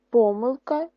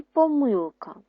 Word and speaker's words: помилка: так і ще раз правило що слово помилка можна наголошувати і помилка і помилка а слово помилки тільки один наголос наступне наше завдання на